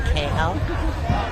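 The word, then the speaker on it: Kahel: It's T A M M Y uh K A H E L uh pronounced KL.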